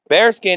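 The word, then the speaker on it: Baerskin: Now I am going to another sponsor and that sponsor is going to be bare skin tactical hoodie and tactical wear. Now bare skin is spelled B A E A R S K I N but it's pronounced bare skin.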